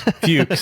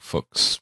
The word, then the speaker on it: Fuchs: Fuchs. Rhymes with pukes. In the German, it's more like Fuchs, but I mean.